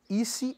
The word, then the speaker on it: isi: ISI é I, S, I, né?